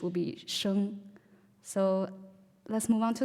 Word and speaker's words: Xi: For example, S would be sha, and then with H would be sheng. So let's move on to the next one. It's XI. So normally XI is pronounced as she.